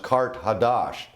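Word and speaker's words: Qart-ḥadašt: ancient capital of Atlantis Carthage in the ancient language is pronounced Kart hadash and that means new city so it was a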